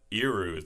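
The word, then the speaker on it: erhu: Well, they use the iru, that's how you pronounce it.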